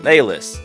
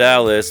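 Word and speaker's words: Alys: Chaz, getting called over by fellow veteran hunter, Alice. Yeah, I'm sure a lot of people pronounce it Alice, but this is just what I decided to roll with.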